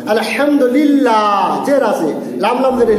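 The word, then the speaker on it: الحمد لله: লা দ্বারা পড়তে হবে শুধুমাত্র জেরের ক্ষেত্রে লা দ্বারা যেমন আলহামদুলিল্লাহ জের আছে লাম লাম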